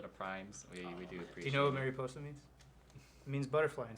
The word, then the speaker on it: mariposa: so much for the primes you know what mariposa means it means butterfly in spanish oh really yeah it's pronounced mariposa that's why i hired thank you